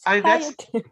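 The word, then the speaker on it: bhāsayate: little extra after ba, like ba. Yeah, that's Bhasayate. English just like forces you to emphasize that second syllable, but it doesn't have any. It's not doesn't seem like it's supposed to be there.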